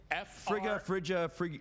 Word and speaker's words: Frigga: It is, in fact, Frigga. God. Kallinowski. That is incorrect. That is incorrect. We cannot accept. It's an extra syllable in there.